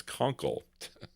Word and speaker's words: Kunkel: Did I say Kunky? It's Kunkel.